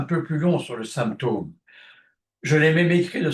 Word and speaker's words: symptôme: J'ai choisi cette façon d'écrire pour supporter le nom symptôme qui se prononce actuellement, on ne sait pas trop pourquoi, symptôme, c'est-à-dire quelque chose qui évoque la chute de la chute de quelque chose.